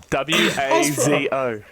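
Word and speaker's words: oiseau: W A Z O. Wazo. I was pretty close then because I was like very close. Yeah. Yeah. Yeah. Okay. Wo. Wazo.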